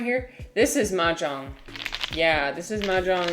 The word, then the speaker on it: mahjong: American ma jang. They call it they spell it this way like a really weird way. Majong, but the way that it's actually supposed to be pronounced is Majang.